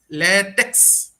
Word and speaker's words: LaTeX: to mention about there, though it's spelled as LaTeX, it should not be pronounced as latex. It should be pronounced as LaTeX. Okay, so most of the people, they actually do the mistake. They pronounce it as the latex. Actually, it's not latex. It's basically LaTeX.